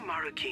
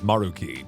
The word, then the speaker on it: Maruki: First, regarding Maruki himself. Also, I've been saying his name wrong this whole time. His name is Maruki, not Maruki.